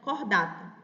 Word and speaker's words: Chordata: No caso do ursos americanos, o seu filo é o filo cordata, né, que a gente escreve em português chordata, mas é uma palavra em latim, então se pronuncia cordata.